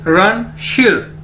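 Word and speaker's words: 认识: Spelling इसकी है SHI लेकिन बोलेंगे इसको शिर।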